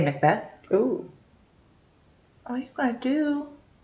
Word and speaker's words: Macbeth: I want to call it Macbeth. Like McDonald's. Because that's how it's spelled. No, it's Macbeth.